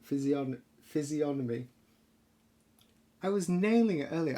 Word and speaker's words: physiognomy: The G is silent. Physiognomy.